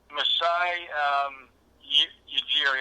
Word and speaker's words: Masai Ujiri: Masai Ujiri, I'll probably butchered his last name.